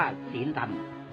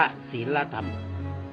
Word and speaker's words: ศีลธรรม: อ่าน คำ ว่า ศีลธรรม ถ้า อ่าน ว่า สี ดำ ก็ คือ ปิด ต้อง อ่าน ว่า ศีลธรรม แต่ นอก นั้น เมื่อ